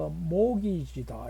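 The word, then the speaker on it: mortgage: 여러분들 그 모기지다 이러면은 그 T는 묵음입니다. 소리가 안 납니다.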